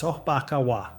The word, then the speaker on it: sobakawa: This is the sobakawa pronounced sbakawa, the buckwheat pillow.